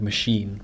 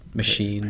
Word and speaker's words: machine: original pronunciation okay well this CH has an SH sound is more of a French sound like machine chef chef yes machine or maybe that's more